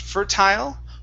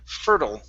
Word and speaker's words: fertile: the word fertile now there's two ways to pronounce this um it depends on depending on where you came from okay um so it could it could be pronounced fertile or fertile okay personally i say fertile there are others that say fertile okay so however you